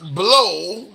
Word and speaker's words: Blough: Blow is spelled Blough.